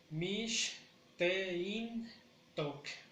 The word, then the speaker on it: mishteintok: Mishteintok, mishteintok, mishteintok, mishteintok. Igual en tok pronunciamos con mayor fuerza para cortar.